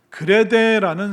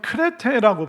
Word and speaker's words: 크레테: 그렇게 이제 디도가 고린도 교회를 안정화시킨 다음에 그 다음에 사도 바울이 디도를 어디로 보내냐면 그레데라는 섬으로 보내게 됩니다. 이 그레데라는 섬은 지금은 크레테라고 발음을 하는데 그 지중해 바다 안에 있는 섬입니다.